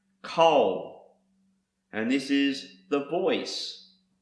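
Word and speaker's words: קול: Another word is pronounced kol, and this is the voice, sound and noise, and also thunder.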